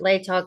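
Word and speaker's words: Latah: the state of Idaho by and through the Law County. That's how I've heard them pronounce it. Lay tall county uh prosecuting attorney's office.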